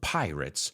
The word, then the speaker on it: pirate: We'll take a peek into the world of pirates on this week's episode of FYI. And I want you to pay attention to how I'm pronouncing it. Pirate. I didn't say rate, I said writ. Pirate.